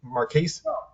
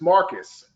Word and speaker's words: Marques: is it mark k marquis it's just marcus marcus oh i'm just way off okay my bad it's it's spelled like that but it's pronounced marcus okay so marcus